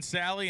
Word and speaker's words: Salley: the many guys who corrected his last name pronunciation form yesterday John Sally in Assassin grass charger goes 1129 and Robert